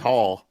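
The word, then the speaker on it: Raúl: He says Hall. There you go. What the fuck? The R is silent. How do you get that? Brazilian Portuguese. That's why.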